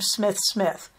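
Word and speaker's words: Smythe-Smith: they make very clear that the SMI Smiths pronounced their last name Smith Smith I was dying because I know that the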